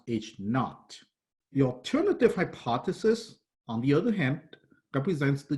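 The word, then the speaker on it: H₀: The null hypothesis is written H with a subscript zero, pronounced H naught.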